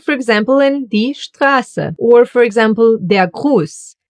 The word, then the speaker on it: Strasse: And in the combination with the letter P, it gets pronounced as Shpa. Like in Stift, Stuhl, Sprechen, or Strasse.